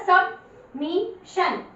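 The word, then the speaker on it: submission: उसके बाद SUB, अब ये देखिए ना, S भी कॉन्सोनेंट में आ रहा है और B भी कॉन्सोनेंट में आ रहा है, तो आपको पता लग जाएगा, ये क्लियर हो जाएगा कि U को अ का साउंड देना। तो क्या बन गया, सबमिशन, सबमिशन।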